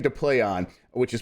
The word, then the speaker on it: Plaion: just yeah just yeah it's a name to play on which is pronounced to play on the german austria media company started in 1994